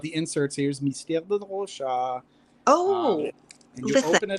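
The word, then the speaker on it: Rochas: Listen, I've only ever pronounced it American. It took me until now to know what we're talking about. That Rocha. One is really good. Yes. It's like I've reminded myself it's like Degas, like the painter Rocha.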